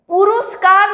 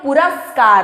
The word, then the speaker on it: पुरस्कार: पुरस्कार नहीं होता है कभी भी, हमेशा आप जब उच्चारण करेंगे तो पुरस्कार होता है, पुरस्कार, पुरस्कार कभी नहीं होता है, मतलब ये गलत है और ये सही है।